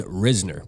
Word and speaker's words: Risner: Now, let's talk about Dalton Risner, because that's how you say it, man.